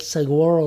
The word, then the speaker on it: Saguaro: Lake right Saguaro Saguaro it's not a g it's like pronounced it's like guacamole no guacamole well there